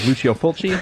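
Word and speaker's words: Lucio Fulci: that uh I believe the pronunciation of his name is Luchio Fulchi if I'm not mistaken.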